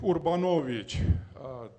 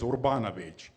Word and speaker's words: Urbanowicz: my name is urbanowicz this is classical pronunciation of my name but usually in America it is urbanovic I was born in